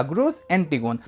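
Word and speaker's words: Grus antigone: ग्रूस एंटीगोन कहीं-कहीं पे इसकी स्पेलिंग आपको थोड़ी सी अलग मिल सकती है लेकिन आप परेशान ना होइएगा। प्रोनाउंसिएशन इसी तरह ही किया जाएगा। ग्रूस एंटीगोन।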